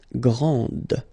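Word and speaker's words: grande: then the feminine form Grand okay so you put this and then you get the sound d d Grand okay and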